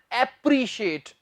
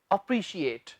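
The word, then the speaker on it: appreciate: पित्त आदि डी कि इसका जो सही उच्चारण है वह एप्रिशिएट इससे यह नहीं कहना एप्रिशिएट यह अप्रिशिएट किसी की प्रशंसा करना अप्रिशिएट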